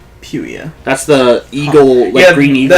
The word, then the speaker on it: Harpuia: No, Harpuia. It's Puia at the end. Puia.